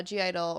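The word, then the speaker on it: (G)I-DLE: g idol or they're they're pronounced idol but there's g idol because if i just say idol it makes no sense i know it's verbally i know what idol is you can just say it i know i just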